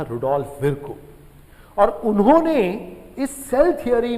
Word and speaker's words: Virchow: Rudolf विर्को, VIRCHOW, है ना, कुछ लोग विर्चो पढ़ते हैं बट विर्को इज the correct pronunciation.